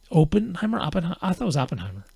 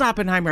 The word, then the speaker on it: Oppenheimer: of what the focus of the of the open Timer is it open Oppenheimer Oppenheimer Oppenheimer Oppenheimer but either way that movie um it is Oppenheimer I've been saying it wrong uh well that